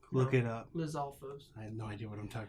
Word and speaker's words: Lizalfos: Lizalfos.